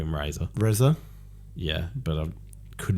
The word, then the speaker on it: Reza: So there's this bloke called Razor. Yes. Yeah, I've called him Razor. Reza?